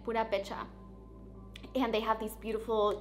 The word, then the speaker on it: Purépecha: My ancestors are they are Purépecha, which is, I believe, how you say it, Purépecha.